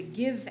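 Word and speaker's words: Gyve: you can download the give app we used to say it's print it's um spelled g-y-v-e but now we're just saying it's pronounced give but anyway it's on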